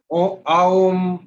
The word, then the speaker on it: ओम: अभी मैं ये आपको हिंट दिया कि ओम का उच्चारण जब करते हैं तो अ, यहां से एनर्जी चालू हुई, हमने अपलिफ्ट किया, ओ पे पहुंचे तो यहां तक अपलिफ्ट किया, म किया तो और ऊपर तक किया।